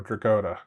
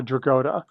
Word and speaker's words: Dragotta: I believe he gets a long O, Dragotta, is how I've heard it pronounced. Dragotta. Yeah. Okay, so Dragotta.